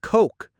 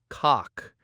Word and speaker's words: coke: And coke, not cock. Use that OU diphthong.